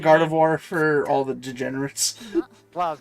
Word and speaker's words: Gardevoir: Um, wrong name though, but it's Gardevoir, not gardener. Oh, uh, he he said Gardevoir for all the degenerates.